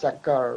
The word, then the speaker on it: chakra: So the chakra system, which, by the way, the correct pronunciation is chakra, right, in Hindi, is the chakra Mm.